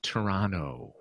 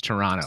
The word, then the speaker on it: Toronto: Toronto Toronto it's actually Toronto like it's not you don't put the emphasis on the T it's Toronto it's just like Marathon